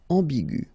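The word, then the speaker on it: ambiguë: Okay, but then you don't pronounce anything because it is exactly the same. So aigu will become aigu. Another example is ambigu, and it will become ambigu.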